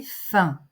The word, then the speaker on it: faim: F j'ai soif j'ai faim on ne prononce pas le M j'ai faim j'ai sommeil